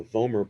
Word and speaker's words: vomer: i remember homer simpson the vomer bone rhymes with homer the vomer bone that's just medially